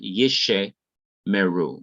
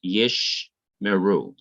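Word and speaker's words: ישמרו: and this one here if two shawars come together in the middle of a word the first shiva is not to be pronounced but the second shiva is to be pronounced so you have yesh meru not yeshe meru but yish meru they will keep they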